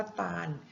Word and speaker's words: ตาล: หนึ่ง คำ นะ คะ คือ คำ ว่า ตาล มี ตัว ลิง เป็น ตัว สะกด คำ ว่า ตาล นะ